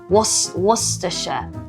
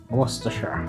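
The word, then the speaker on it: Worcestershire: We had to, you know, teach her these pronunciations. So, it's actually an English place and it's Worersha. Worersha.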